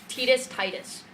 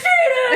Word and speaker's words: Tidus: No one knew how to pronounce his name, and then Kingdom Hearts came out. And then Waka's like, hey, Tidus and me, man, are gonna go play some Blitzball. And everyone was like, it's Tidus!